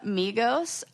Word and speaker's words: Migos: The Migos is a band. Will you spell that? Rap trio, Migos. Oh, it really is like Amigo.